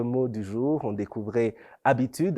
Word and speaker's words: habitude: du jour on découvrait habitude un mot féminin donc il commence avec un h muet au début passons tout de suite